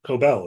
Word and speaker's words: Cobel: Miss coobo Miss coobel coobel is how you say coel not coobo um I guess as